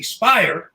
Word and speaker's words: Speier: servers and then congressman jackie speier rhymes with liar she agrees with it